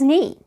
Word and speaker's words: knee: before M let's practice me James hurt his knee head shoulders knees and toes knife watch out